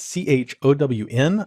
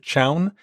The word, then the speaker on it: chown: using the challenge command that's Chow in I pronounce it Chown it's short for change